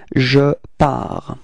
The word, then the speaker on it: pars: First person of the singular, it's je, and then we get this je pars. Okay, so it's ending with a S, but then we don't pronounce it, so je pars.